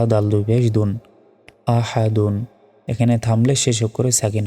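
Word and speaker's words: أَحَد: দাল দুই পেশ দুন আহাদুন এখানে থামলে শেষ অক্ষরে সাকিন হবে অর্থাৎ দাল অক্ষরের উপর সাকিন দিলে উচ্চারণটা হবে আহাদ আহাদ ওয়ালাম ইয়াকুল্লাহু কুফুয়ান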